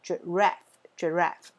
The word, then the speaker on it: giraffe: giraffe。好，一样这个 R A F F E 这个 E 不发音哦，所以这边是念 raff，然后中音在第二个音节，所以 giraffe 长颈鹿。最后面，Y， Jim， Gypsy， Egypt， Biology， Technology。好，Jim